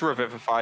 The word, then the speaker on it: revivify: I think you guys are adding an extra syllable, but It's revivify. Yep.